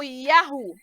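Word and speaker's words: יהו: Pois bem, vimos que o bigrama, as duas letras Yud, He, se pronuncia como Ya, e o trigrama Yud, He, Vav, né? Como Yahu.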